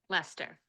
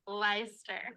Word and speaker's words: Leicester: I know someone named Lester, and that's not how it's spelled.